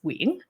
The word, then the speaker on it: Nguyen: quick intro I'm Amanda Nguyen um and my last name is pronounced Wing proper Vietnamese though um I am currently